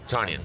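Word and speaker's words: Tonyan: Aaron Rodgers passed short to Tanya. I can't even pronounce the names of the freaking Green Bay Packers. You know. How do you pronounce that? Tanyan.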